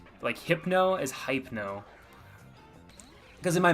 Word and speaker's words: Hypno: I got a little sad that people made fun of me on TikTok about how I pronounced hypno, because everyone was like, it's hypno, like hypnosis.